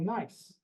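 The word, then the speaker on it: gneiss: So granite can be metamorphosed into a type of metamorphic rock called nice which is spelled G nei.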